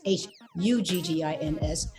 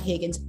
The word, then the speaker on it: Huggins: spell c-h-a-r-l-i like charlie she says charlie huggins h-u-g-g-i-n-s not higgins huggins guys let's make that